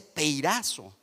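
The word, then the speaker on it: πειράζω: Ambas se escriben igual y se dice peirazo, pero lo único que las diferencia es el origen que las produce.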